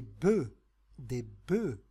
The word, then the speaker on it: bœufs: أنتم تعرفون أن œuf بيضة أو بوف ثور نقول في المفرد النف مع نطق الأف، ولكن في الجمع نقول des bœufs sans prononcer le F.